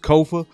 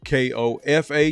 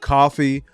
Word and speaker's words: Kofa: the screen k-o-f-a not coffee not Khufu not Kofi or any variation thereof Kofa rhymes with sofa easy to say easy to spell got four watching now